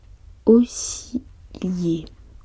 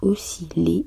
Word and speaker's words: osciller: Osciller se prononce osciller et non osciller qui aimerait avec vriller.